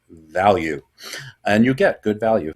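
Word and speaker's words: Valyou: That's That's how you pronounce her name. It's V A L Y O U. Value.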